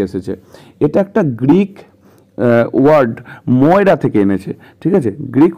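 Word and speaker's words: Moira: পরে দেখতে পাবো সে মৌরিয়াকে বলছে মৌরিয়া মানে মায়ের খবর নিচ্ছে এখানে বলছে কোথায় এখানে তোমাদের একটা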